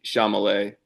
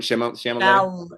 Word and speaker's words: Chalamet: Chalamet. Chalamet. Um, L before the M.